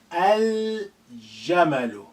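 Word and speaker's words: الجمل: Jim is a moon letter. Al-Jamalu. Al-Jamalu. We retain the sukun on a lam.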